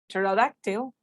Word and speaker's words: pterodactyl: two syllables and the word pterodactyl has a silent p so you also have